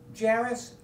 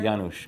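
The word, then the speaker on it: Janusz: Uh Jarus Kaminsky, your cinematographer, Yanosh Kaminsky. Yanosh. My pronunciation is probably looked You thought the N was an R.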